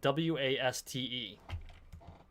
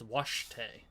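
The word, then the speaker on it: wašté: Washte is spelled W-A-S-T-E when romanized. Which is not the way it sounds. Because W-A-S-T-E looks like waste in English, or waste if you were to pronounce it, but it's washte.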